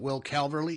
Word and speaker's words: Will Calverly: David Fine is here, the broadcaster and director of communications, along with alternate captain Will Calverly.